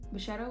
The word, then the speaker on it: Brachetto: Brachetto is such a great variety, period, but it is not Stella Rosa.